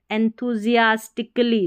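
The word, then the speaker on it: enthusiastically: जियास एस आई एस जियास सियास नहीं बोलना जियास टिक टी आई सी टिक अली एंथूजियास्टिकली देखिए एंथूजियास्टिकली ऐसे तोड़ के पढ़ना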